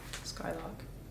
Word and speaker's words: Skylrk: Skyllock, I think that's how you say it. Skylock.